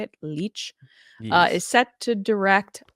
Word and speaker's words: Leitch: Leitch Yes.